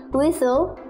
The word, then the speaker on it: whistle: words with silent t t is silent in this world castle person orphan tissue prison christmas listen whistle wrestle hustle thank you very much